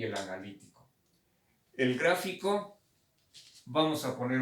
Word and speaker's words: analítico: el gráfico y el analítico. El gráfico, vamos a poner un ejemplo. Analítico, acento en la I.